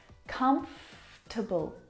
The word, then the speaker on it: comfortable: that we don't need to pronounce prounce comfortable not comfortable or comfortable but comfortable comfortable we skip that vowel sound comfortable you look very